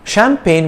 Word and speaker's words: champagne: let's talk about champagne champagne with a silent g is that bottled bubbly